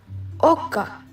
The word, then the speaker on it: oka: O is pronounced like O in bowl. Oka. Not oka. Oka.